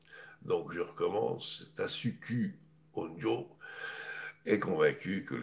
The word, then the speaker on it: Tasuku: Nobel Tasuku Honjo, oui, il faut prononcer les UU en japonais, c'est pas OU, hein, parce que tout le monde fait l'erreur. Donc je recommence, Tasuku Honjo est convaincu que